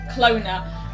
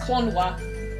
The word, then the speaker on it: Klonoa: Basically, he basically, as a kid, he always pronounced Klonoa as Clona, and then he found out it's actually supposed to be pronounced Klonoa.